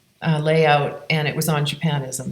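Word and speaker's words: Japonisme: Actually, at one time I was making a color palette for layout, and it was on Japanism. So Japanism, actually, the French way of pronouncing it.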